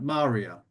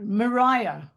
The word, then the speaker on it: Maria: And I've always called her Maria, but I think it's pronounced a different way, isn't it? Maria. Maria. No, Mariah. Mariah.